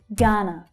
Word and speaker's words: Ghana: Ghana, Ghana. The first syllable is stressed, the second one unstressed.